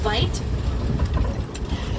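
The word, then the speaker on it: wyd: The white rhino got their name as a mispronunciation to the Afrikaans word vite.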